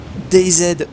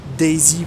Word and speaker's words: DayZ: vidéo dessus nous allons jouer à dz ou daisy pour plus classe d'entre vous qui veulent cela prononcé comme à la mode donc pourquoi je me